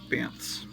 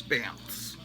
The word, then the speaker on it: Banth: The lions that had like 8 legs in the John Carter stories are called Banth, B-A-N-T-H, Banths. It's hard to pronounce, Banths.